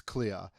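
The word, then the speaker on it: CL-R: the Japanese it's it's clear so CL - are is meant to say clear so it's under night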